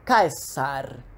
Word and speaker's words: Caesar: in "portus" (harbour), /k/ as in "CIcero" or Caesar, yes, that's how these names were pronunced, it was represented by the letter "cee", "ca", "ce", "ci", "co", cu" always.